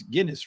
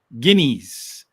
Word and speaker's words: Guineas: I always love trying to pronounce that because, when here, it's Guinness, right? But I don't know. How do they pronounce it? Guineas.